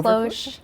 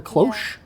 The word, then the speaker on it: cloche: Cloche. What do they call It's a cloche. It's called a cloche?